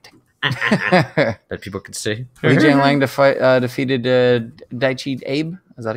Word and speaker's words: Li Jingliang: I'm like, what name are you trying to pronounce right now? Li Jingliang. Li Jingliang. Li Jingliang. So it's all one word. Jigliang. I thought it was like Jinglang.